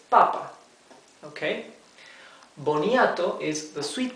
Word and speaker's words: papa: That indicates us that the accent is in the first syllable. It's papa.